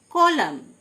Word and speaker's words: column: কলাম, COLUMN, N silent, কলাম, মানে স্তম্ভ।